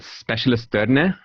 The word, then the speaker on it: Specialisterne: So the name of the gentleman who runs this Danish company, and by the way, the company is called Specialisterne, and I'm using a Danish accent there.